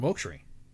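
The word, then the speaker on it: Mochrie: And then next week he has Colin Moaktree, right? That's how you pronounce his name.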